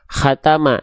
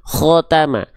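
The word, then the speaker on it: خ: Kenapa ketika berharokat baris atas terdengarnya bukan kha, khatama, tapi khotama? Kenapa lebih terdengar seperti vokal O ketika fathah? Karena kho termasuk ke dalam huruf yang karakter pelafalannya adalah tebal.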